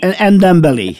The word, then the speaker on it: Ndombele: he had a right go at, you can pronounce the lad's name for me, Tanguy Ndombele. Ndombele, yeah.